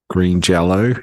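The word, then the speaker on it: Green Jellö: the Y and he says that means you pronounce it as Green Jello even though it's pronounced written as green jelly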